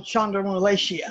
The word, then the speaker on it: chondromalacia: Because of that, I have what they call chondromalacia. I think that's pronounced correctly.